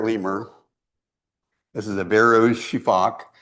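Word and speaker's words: sifaka: This is a Barrow's shifac. It's pronounced shifac because that's what their call sounds like.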